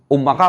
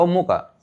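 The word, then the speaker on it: أُمُّكَ: Ummaka apa ummuka? Kok ummaka? Ummuka.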